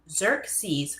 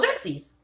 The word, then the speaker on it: Xerxes: It's pronounced Xerxes. Oh, Xerxes.